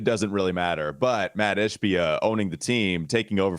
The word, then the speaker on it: Ishbia: Did I get that name wrong? I think I said Ashiba. I think I turned him into like a Mitsubishi. I think I turned him into a foreign car.